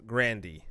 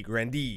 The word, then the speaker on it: Grande: ariana grande grande is not actually grande is Grandy as what says here grande de Grandy like the restaurant yeah Nutella here we're pronouncing it wrong that's how would you think